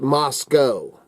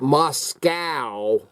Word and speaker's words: Moscow: Moscow does not protect or Moscow is not pronounced Moscow it is pronounced Moscow we ain't in Russia okay that's just a